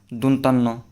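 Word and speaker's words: দন্ত্য ন: মূর্ধন্য ন তারপর হচ্ছে অনেকে বলে যে এটাকে দন্তান্য এটা সঠিক উচারণ হবে দন্তন দন্ত ন এইযে আরেকটা অন্তস্থ অন্তস্থ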